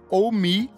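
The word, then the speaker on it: Ohmme: Primeiro, pra Elô, saiu o disco das meninas do Oh Me, que se chama Fantasize Your Ghost. É uma dupla, uma menina asiática e uma menina branca. Elas fazem um indie rock. Oh Me se escreve O-H-M-M-E.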